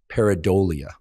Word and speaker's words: pareidolia: But the correct pronunciation is pareidolia. And pareidolia is our tendency to look at an amorphous